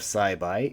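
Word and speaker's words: 栽培: Second part of Saibai is alternately pronounced tsuchikau. Tsuchikau, hokani bai, is cultivate or foster. Tsuchikau is to cultivate, and bai is our pronunciation used in this word.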